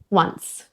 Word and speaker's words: once: And one more, some words beginning with O, like one and once, even though it's spelt with a written O, it starts with a W sound. One, once.